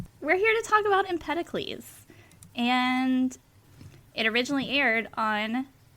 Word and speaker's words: Empedocles: Um I believe that it is uh named after the uh the Greek philosopher um Empeticles.